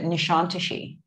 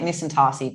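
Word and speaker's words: Nişantaşı: what part of istanbul next to nishantishi yeah not nisantasi no we were calling it nisantarsi because we're tourists and have no idea how to pronounce turkish words apparently joke's on us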